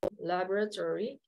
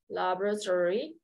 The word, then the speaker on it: laboratory: can say it slowly laboratory laboratory laboratory stop by the laboratory stop by the laboratory on your way out okay so the O is silent instead of laboratory is